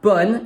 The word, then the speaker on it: bonne: The E in bonne is silent.